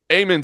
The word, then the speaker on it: Aiemann: Pronounce Zahabi's first name for me. Aiemann Zahabi. Aiemann. Yep. Okay. I didn't know if it was Aman or Aiemann Zahabi.